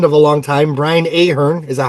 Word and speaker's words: Ahern: It was her last album with her husband of a long time, Brian Ahern. Is that how you pronounce his name?